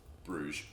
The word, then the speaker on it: Bruges: have psg man city kluge which is how you say it in uh flemish but they're about to the rest of the world bruges um and then rb